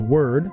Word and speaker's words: Weird: I realize in the game it's pronounced word, but I always read it as weird, so that's how I'm going to say it.